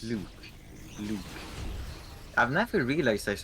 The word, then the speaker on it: Luke: thing is, Blue and Luke blue. Luke is an Luke. American thing, and it's got a hard K at the end. That's how you pronounce the name.